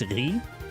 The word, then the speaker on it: riz: Chat, did you know that in French, the French word for rice is technically pronounced riz, but it's spelled R-I-Z. So rice is the rizziest food of all time.